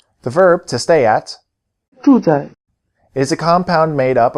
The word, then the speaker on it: 住在: Notice that the second syllable is in the neutral tone.